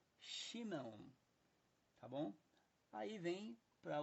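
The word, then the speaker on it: שמעון: não é Samuel é chemo é Simão É chimão tá bom aí vem para o grego e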